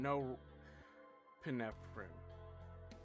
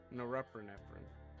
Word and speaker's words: norepinephrine: And these are uh which uh the uh those things are stuff like dopamine, epinephrine, and no epinephrine. Norepinephrine. That one. That That's how you say it.